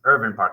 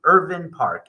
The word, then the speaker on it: Irvine Park: and per the family and per how you pronounce the name it's irin Park I will say that both are acceptable however it's technically Irvin Park and the history to this park is amazing